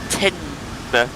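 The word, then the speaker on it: Teignmouth: Tinmouth, which is spelled T-E-I-G-N, mouth. Why? Why not just I-N, just Tinmouth? I don't know.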